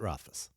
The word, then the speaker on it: Rothfuss: Pat Rothfuss. Pat Rothfuss. Rothfuss. The problem is the last name. It's Rothfuss. Rothfuss. Rothfuss. Rothfuss. Rothfuss. Rothfuss. Rothfuss. It's like Rothfuzz, but with a soft S.